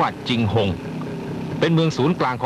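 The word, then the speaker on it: 景洪: เ เมือง เชียงรุ่ง หรือ ที่ ชาว จีน ออก เสียง ว่า จิงหง เป็น เมือง ศูนย์ กลาง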